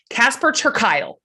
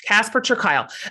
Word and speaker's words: Casper ter Kuile: But as he reminded me at the top of the show, rhymes with smile. Casper ter Kuile.